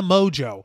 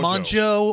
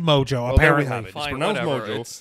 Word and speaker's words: Mongeau: a YouTube celebrity by the name of Tana mojo that's it yeah apparently that's how you pronounce her last name it is spelled mo n GE au so I'm thinking macho or Mon Joe or whatever so but I'm drew what I'm